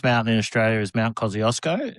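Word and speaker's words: Kosciuszko: So the tallest mountain in Australia is Mount Kosiosco. It's it's a Polish name, so it's pronounced Kushko, but we call it Kiosco.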